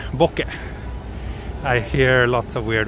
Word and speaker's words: bokeh: But in Japanese it's pronounced boke, not bouquet or anything like that, but just boke.